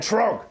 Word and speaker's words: Troggg: Just look in the search bar for Larrakin Puppets and Troggg with 3 Gs. And the middle G is silent.